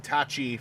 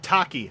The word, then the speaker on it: Tachi: If you bring Tachi from Metal Cardbot to uh to any TF Con really. Huh? What the Oh, interesting. It's actually pronounced Taki.